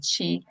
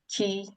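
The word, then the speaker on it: 棋: The Chinese pronunciation is chi, and the Japanese pronunciation is ki, and Korean pronunciation is ki.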